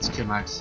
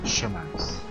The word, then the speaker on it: Shimax: His name is not Skimax, it's Shimax. I always said Skimax, but it's That's not how it's pronounced.